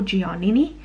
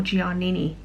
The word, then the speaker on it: Giannini: this is by umberto giannini i think i've pronounced that right i used to call them a bird or gianni but i believe it's on bird or giannini so this is vegan